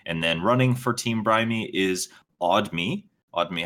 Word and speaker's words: Brime: But the team name is actually pronounced Brimy because it's a combination of our names.